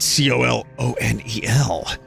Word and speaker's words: colonel: But Colonel, why is it spelled C-O-L-O-N-E-L? It's pronounced Colonel, K-E-R-N-A-L. I don't get it.